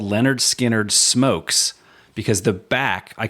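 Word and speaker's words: Lynyrd Skynyrd: no excited to get into that listen to pronounced Leonard skinnard for this week listen along with us join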